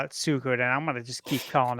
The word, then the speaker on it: Suikoden: Now it's pronounced Suikoden. Mm-hmm.